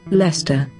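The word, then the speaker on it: Leicester: is and here's how it should be pronounced lester les lester but this is just because one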